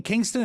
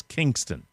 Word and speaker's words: Kingstown: k-i-n-g and rhode island i seem to remember that being pronounced by the locals as kingston but i could be wrong okay it was close